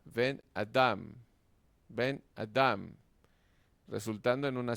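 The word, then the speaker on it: בֶּן־אָדָם: significando hijo de hombre, pero el acento se traslada a la palabra Adam, ¿verdad? Ben Adam, Ben Adam, resultando en una sílaba cerrada, atona para la primera palabra.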